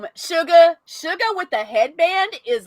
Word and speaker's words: Suga: look shook a shirt s-u-g-a it's actually a it's actually suga it's actually sugar sugar if you pronounce it korean but yeah by the